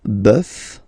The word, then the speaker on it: bœuf: really strange, because it does mean that the pronunciation will change. Okay, so we'll take this one, un bœuf, and then at the plural, well, you just